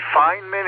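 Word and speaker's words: Feynman: Uh, Gary, Richard Fineman is the correct pronunciation.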